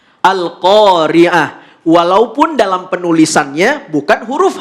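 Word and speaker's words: القارعة: Ketika wakaf kita nggak boleh sebut Al-Qari'at. Nggak boleh. Tapi walaupun dia huruf tamar butoh, maka ketika wakaf bunyi yang keluar adalah huruf H. Al-Qari'ah.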